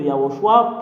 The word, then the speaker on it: Yahushua: Et le Père Yahva a donné une ordre que vous devriez prononcer le nom de Yahushua pour porter le salut.